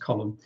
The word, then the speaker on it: Colm: i'm colin um that's an irish name pronounced column i'm an author i've